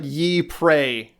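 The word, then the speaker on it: Ypres: y p r s so it's pronounced like ye prey like it sounds like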